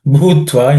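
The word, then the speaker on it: भूत्वा: Bhutva in that bhu is again aspirated.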